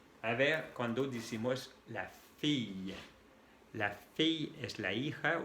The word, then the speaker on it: fille: Ahora, la I y dos L. No son doble L, no tenemos una letra como ustedes, que es la doble L, solamente son tres letras, I, L, L, que se pronuncia también como la doble L del español.